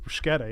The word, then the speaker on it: bruschetta: It almost sounds like bruschetta, you know? Is it bruschetta or bruschetta? Bruschetta. Bruschetta. Is it? Yeah, For sure. for sure. It's not bruschetta.